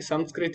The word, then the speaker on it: संस्कृत: क्या होगा संस्कृत संस्कृत तो पहले मुझे भी कन्फ्यूजन रहता था कि संस्कृत है या संस्कृत है क लेकिन अभी जान सकते संस्कृत ही इसका शुद्ध उच्चारण है ठीक है चलो अभी